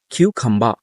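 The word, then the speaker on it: cucumber: কিউকাম্বার, কিন্তু যখন আমরা এটা আইলসলি স্পিকিং করব অথবা হচ্ছে আমরা প্রোনাউন্সিয়েশন করব, তখন আমরা বলতে পারি কিউখাম্বা। কিউখাম্বা। রটা সাইলেন্ট থাকবে।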